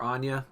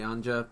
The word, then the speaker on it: Anja: I keep calling her Anya it's probably Anja it's a n j a but I keep saying Anya because that's the name I'm familiar with and Angel is not I'm